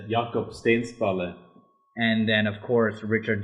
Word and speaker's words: Jakob Stensballe: And those were, help me with the pronunciation, Thomas. Oh, it's Jakob Stensballe.